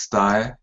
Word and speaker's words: Tsutae: first name t uh my name is sty like a suit and T sty okay so sty uh